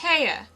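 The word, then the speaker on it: Haigha: happy his name is haa he pronounced it so as to rhyme with mayor I love my love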